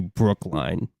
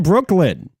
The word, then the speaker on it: Brooklyn: They made fun of me for mispronouncing your name and calling you Brookline. Yeah. I mean, who pronounces it Brookline? Who pronounces it Brooklyn?